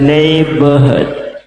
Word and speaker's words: neighborhood: In English, any double O, it should be read who. Neighborhood. Try in here. Neighborhood. Hood. Double O should be pronounced U in Indonesia or in any pronunciation.